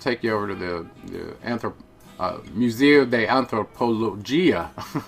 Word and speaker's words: Museo de Antropología: We're going to take you over to the Museo de Antropología, is how it's pronounced in Spanish.